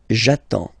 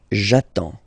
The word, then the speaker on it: j'attends: So the first form will be j'attends. J'attends. Okay? You get D and S. Well, basically you don't pronounce them. Okay? And then you get only the sound attends. Nasal here. En.